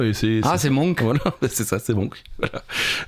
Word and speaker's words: Munch: c'est Munch OK et dans Munch prononcé Munk c'est voilà c'est ça c'est Monk n en 1863 à